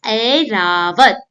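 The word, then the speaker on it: ऐरावत: The first one is Airavat, elephant, the synonym of hathi. Airavat. So can you hear the sound A or A? Airavat. Yes, it is I.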